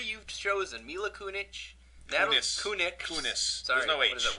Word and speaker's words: Kunis: for you yes scarlett johansson or mila mila kunic kunis wow correct mila yeah that my first one